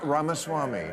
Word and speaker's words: Ramaswamy: about other I'm Donna V is it VC ramasama ramas Swami ramaswami thank you so much I learn so much